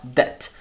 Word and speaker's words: debt: Cuidado aqui que a pronúncia você não pronuncia o B, tá, galera? Não é debt, né? Tipo, é só debt.